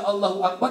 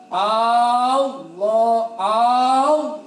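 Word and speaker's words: الله أكبر: Al jalan ini penting tidak boleh memanjangkan hamzahnya lafaz Allah salah bacanya paksa lakukan Gaza dari awal Gangsa maka baca Allahu akbar ada ilmu Allohuakbar Hamzah lafadz Allah enggak boleh dipanjangin contoh yang salah allaho aw aja panjang tuh dari awal shalat kita udah nggak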